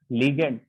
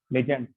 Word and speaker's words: ligand: It is an entity which consists of central metal atom, which consists of central metal atom surrounded by ligand. Spelling ध्यान से देखें, LIGAND, नॉट लेजेंड। Clear?